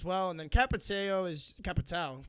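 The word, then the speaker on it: Capitão: And then Capitao is Capitao. People make fun of me the way I say Capitao, but that's how it's spelled, okay? So don't come at me.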